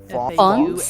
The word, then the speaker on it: Fauns: How do you pronounce that? Fawns?